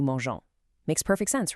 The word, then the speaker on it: mangeons: g o n s, which forces a hard g sound, mongos. Nobody wants that. So, to keep that nice soft g, French smartly keeps the e, giving us new mangeons.